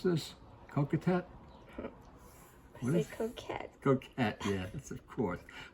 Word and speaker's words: coquette: And how do you pronounce this? Coquette? What is coquette?